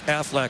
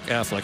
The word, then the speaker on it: Aflac: for college football Aflac Aflac Affleck in case I missed one next week I want you to say it like the Ducks Pittsburgh beat Wake Forest